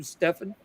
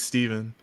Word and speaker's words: Steven: I don't like saying because you're pronouncing my name correctly my name is Steven but I let people